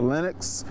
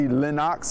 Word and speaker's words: Lenox: theater and mind you it's not the linux those who grew up in this neighborhood will correct you it's the linnox as they pronounce it